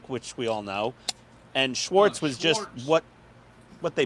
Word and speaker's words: Schwarz: butchered schz is black Schwarz without the te though um here's the thing though the Z is pronounced like it's a TZ which is I know but but it wasn't spelled with a TZ right but that's why